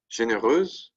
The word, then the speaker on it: généreuse: But again, the pronunciation doesn't change, right? Généreuse, feminine singular, généreuse, feminine plural. No change in pronunciation, only a change in the spelling.